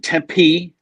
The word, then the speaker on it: Tempe: So I've been living here in Tempe. That's how you know how to hit the I like that. Those syllables, like Tempe, not Chandler or Scottsdale, but Tempe.